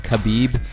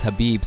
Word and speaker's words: Khabib: beep Aviv and not khabib because I'm have some Russian buddies and they're like RJ man it's actually pronounced Habib so it's gonna be